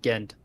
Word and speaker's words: Ghent: ask I was like how do you pronounce this and they're like that's Ghent I was like okay that's how you say it sounds I say again I say Ghent Road it's gent Road I have absolutely no clue why it is gent Road do you say Shuffle